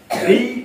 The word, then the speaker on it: the: আর যদি consonant sound হয় তাহলে উচ্চারণ দা হবে।